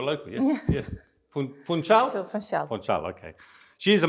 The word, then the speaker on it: Funchal: So, Funchal.